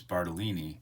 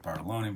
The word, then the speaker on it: Bartolini: I don't say it right, and somebody called me on that, and they're right. It is Bartolini. I'm probably gonna revert to calling it Bartoloni because I always did.